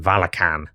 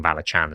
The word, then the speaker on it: Valachan: Wizards of the Coast who were saying Valachan, so I just assumed it was Valachan. I've run Valachan, did a whole video about it. We can spend an hour and 20 minutes with me mispronouncing the domain name.